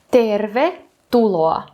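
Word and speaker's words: tervetuloa: Значить, наголос на перший склад першого слова і на перший склад другого слова. Наприклад, тервету тулоа.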